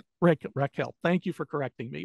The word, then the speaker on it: Raquel: it is featuring a San Francisco police investigator Rachel Lang is that how you pronounce it Raquel Raquel Lang y ra Raquel thank you for correcting me by the way